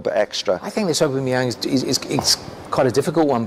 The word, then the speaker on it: Aubameyang: I think that Aubameyang, is that how we spell it? Yeah. Aubameyang.